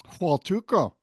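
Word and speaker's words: Huatulco: How do you pronounce it? Hualtuco.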